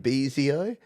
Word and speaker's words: Bezio: Do you know how I know that you pronounce it Bezio? Because he finally gave me a phonetic spelling.